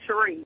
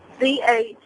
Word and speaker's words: Cherise: Oh, it's actually Cherie. Cherie. Oh. Do you spell that shit all weird?